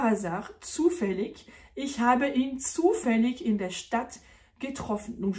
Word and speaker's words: zufällig: Zufällig, qui peut aussi se prononcer zufällig, puisque le IG à la fin d'un mot peut se prononcer ich ou ich en allemand.